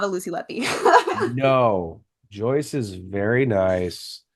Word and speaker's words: Letby: Yeah, it's Lucy Letby. Lucy Leppy.